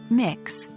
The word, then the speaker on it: Mx: miss you can use MX pronounced as mix as a gender-neutral title